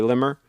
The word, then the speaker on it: Limmer: hiking boot um limmer i used to pronounce some limer but they're really limit uh yeah i love